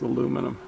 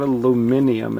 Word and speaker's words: aluminum: It's pronounced aluminum. It's even, look, it's spelled aluminum, not aluminium, it's aluminum. Anyway, besides that.